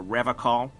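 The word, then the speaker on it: Revachol: to stay strong for rev call he pronounces Revol with a hard K unlike other people serious question time this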